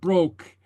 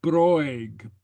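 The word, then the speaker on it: bròig: Okay, so it's not broke, it's broig, broig. Okay, and very often the last I in a case like this is not pronounced overtly, but kind of with a smile.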